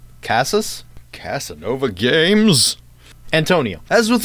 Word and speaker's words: Casas: experimental horror game by antonio caress did I pronounce that right no Casa cos Hass Casas Casanova games Antonio as